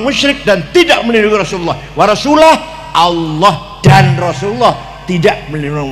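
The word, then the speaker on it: وَرَسُولُهُ: Wa annallaha barium minal musyrikina wa rasulih. Artinya Allah tidak melindungi orang musyrik dan tidak melindungi Rasulullah. Salah. Salah itu yang benar bacanya. Waallahaium minal musyrikinaasulah. Jangan warasulih tapi wa rasul.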